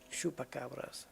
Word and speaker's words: Chupacabras: Chupa. Chupacabras. Okay, so then the CH is pronounced like sh. SH.